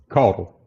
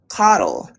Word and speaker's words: Caudle: How do you pronounce it? Codle. Codle.